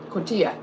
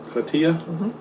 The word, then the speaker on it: cotija: Yeah, Cotija. cotija. I'm pretty sure that's how you say it. Cotija. The J makes the H sound.